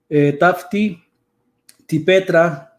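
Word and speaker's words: ταύτῃ τῇ πέτρᾳ: Que cuando dice sobre esta, la roca, porque así está ordenado en el griego, tafti, tipetra, que vendría siendo la pronunciación, no concuerda con el sustantivo petros.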